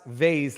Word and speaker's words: vase: crap did you authorize you have to pronounce vase like face Viva you're in the